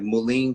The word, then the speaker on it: mullein: fresh air, a lot of water, drinking certain teas, like mullein tea helps to get rid of junk and mucus out of your, I don't know if I'm saying it right, mullein, Mullein.